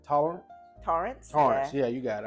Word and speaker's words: Torrance: How do you pronounce Jack's last name? Torrance.